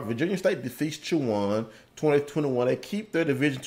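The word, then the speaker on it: Chowan: I love how that school, the school is pronounced Chawan. All right. Virginia State defeats Chawan 20-21.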